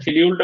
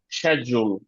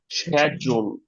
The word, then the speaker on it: schedule: শিডিউলটা ভুল, Schedule. শিডিউল হচ্ছে ভুল। এটা দুইটা উচ্চারণ আছে, একটা হচ্ছে ব্রিটিশে হচ্ছে শ্যাজুল, শ্যাজুল। এই যে দেখেন শক্ত জিম যেটা চিনা যায়, জি শক্ত জিম, জি, তাহলে এটা শ্যাজুল। Schedule. এটা হচ্ছে ইউকে। আর ব্রিটিশে সরি আমেরিকায় হচ্ছে স্ক্যাজুল।